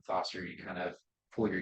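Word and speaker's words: Thosder: I'm sorry you should play ball um you could call me Foster like Foster the theaters how do you spell it t-h-o-s-d-e-r I might be the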